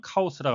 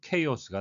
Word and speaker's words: chaos: chaos, 우리말로는 카오스라고 하는데요. 영어식 발음은 chaos가 되겠습니다.